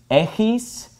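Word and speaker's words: έχεις: This word is pronounced echis, and this is pronounced echete.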